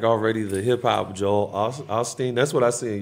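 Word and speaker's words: Osteen: somebody that's like already the hip-hop Joel a Austin that's what I see in your future at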